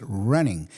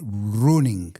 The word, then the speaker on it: running: debe ser running pero fíjate có lo pronuncio es running no puedo decir runing no runing no Mola eh tiene que ser running tú qué eres Yo